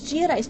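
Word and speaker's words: Giudice: you say your name it's not that hard it's geodis people I can understand there being an American pronunciation and an Italian totally get that but there can't be three versions that's that's impossible um I would say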